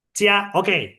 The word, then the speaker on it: jiao: Cia. Oke. Cia. Kalau misalnya aku kasih Sinta JIAO, bacanya jadi Ciao.